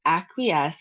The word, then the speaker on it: acquiesce: This particular word, acquiesce, has three syllables. The easiest way I do it is actually by clapping. So, ac- -qui-esce. Those are the three syllables to the word.